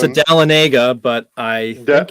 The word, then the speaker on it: Dahlonega: I've heard some people pronounce it Dahlonega, but I think it's pronounced Dahlonega. It's Dahlonega, that is correct.